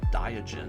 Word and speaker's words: Diogen: And then we round off with the Dwarven Rune Sage Diogen. I believe that's a soft G.